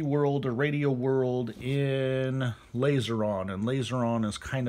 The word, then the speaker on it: Laserion: is the kadai Kaden laser on or lazy on however you would like to pronounce it I pronounce it laser on because hey that's the way it looks to me and so laser on